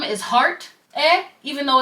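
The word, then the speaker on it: 의: should sound like ui, when it's at the end of a word, it's pronounced as 에 and it shows possession.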